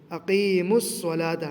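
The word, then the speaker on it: أقيموا الصلاة: है और लाम है लिहाजा रूफे शमसी से पहले जो अलिफ और लाम होता है उसको साइलेंट कर दिया जाता है और उसके बाद वाले जो रफ है यहां पर मीम है तो मीम को डायरेक्ट स्वाद से मिलाएंगे इसके बीच में जो भी हुरूफ है वह सब साइलेंट हो जाएंगे अकीम सलाता मीम को डायरेक्ट स्वाद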